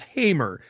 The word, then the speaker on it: Hamer: I go look her up, and the first thing I hear is her pronouncing her voice as Hamer.